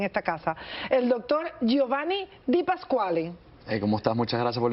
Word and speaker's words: Di Pasquale: Un poquitico le faltó el acento ahí pronunciado, pero vamos bien, bien. Pronúncialo bien, a ver. Di Pasquale. Di Pasquale. ¿Ahora sí? Ahora sí, perfecto.